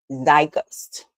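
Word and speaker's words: Zeitgeist: Our word of the day, it is pronounced, let me get my cheat sheet, thy gust.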